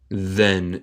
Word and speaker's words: then: Se pronuncia then. El TH en este caso suena más como D. Then.